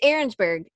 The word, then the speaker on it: Arensberg: a see Catherine yeah it sounds like it's arensburg I know how to say it but that's not out looks like it's ar e in S be calm and then on